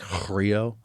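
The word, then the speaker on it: χρίω: It's like, it's spelled Xrio, but it's pronounced like Chrio.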